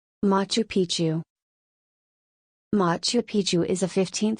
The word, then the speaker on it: Machu Picchu: For most speakers of English or Spanish, the first C in Picchu is silent.